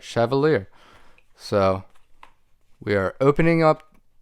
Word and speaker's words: Chevalier: to have it so this is the savivi schaevelier yeah i said it right chevalier so we are opening up this for the